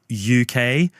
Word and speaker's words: yookay: And they're tagged UK and that is spelled Y O K A Y, which is supposed to be a reference to how UK is pronounced in a multicultural London accent.